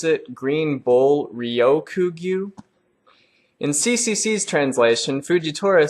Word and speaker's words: Ryokugyu: We also hear mention of a new Admiral, and CCC said this is the way you pronounce it, Green Bull Ryokugyu.